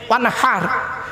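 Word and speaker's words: وانحر: এই গলার ভেতর থেকে হেটা উচ্চারণ করবেন, হে ওয়ানহার, ফাসাল্লি লিরাব্বিকা ওয়ানহার।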